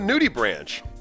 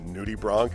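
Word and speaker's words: nudibranch: They have a nudie branch, which is, it's actually pronounced nudie bronk.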